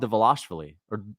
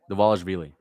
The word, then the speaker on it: Dvalishvili: Dvalishvili. You're not supposed to pronounce the V, but I just say, I guess it's Dvalishvili, not Dvalishvili.